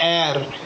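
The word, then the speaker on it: heir: Before words beginning with silent H. कुछ words जैसे जिसमें साइलेंट एच होता है, जैसे एन आर, N honourable man, एन एयर, an honest man. तो ऑनेस्ट, एयर, ऑनरेबल, आर, ये वर्ड्स ऐसे जिनके सामने एच तो आता है लेकिन ये साउंड साइलेंट होता है.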